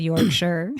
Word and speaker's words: Yorkshire: Yorkshire or Yorkshire? Yorkshire. Well, it depends on where you're from. Oh, well, I'm from the South. You're from the South, so it's like it's Yorkshire. It's a 3-syllable word.